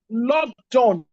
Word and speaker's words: Logdon: See also the case of lockdown against DPP. Lockdown is spelled Logdon.